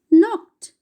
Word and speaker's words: knocked: Knocked. Knocked. We pronounce it as knocked, where K is silent.